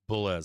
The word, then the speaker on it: Boulez: Okay, so his name is pronounced Boulez. That's close enough to bulls for me.